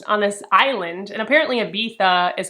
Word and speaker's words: Ibiza: I am realizing from the audiobook that it's pronounced Ibiza, but it's spelled Ibiza. So I'm not cultured enough to understand, but I want to say it's Ibiza. She inherited a house from